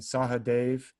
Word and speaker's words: Sahadev: the world nakul and sahadev are twins in the midst of ancient india in the mahabharata of ancient india usually their names are pronounced without that last a is usually silent so it's like not